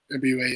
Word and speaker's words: Ebiowei: Malcolm Ebiowei, is that how you pronounce it? Ebiowei, yeah.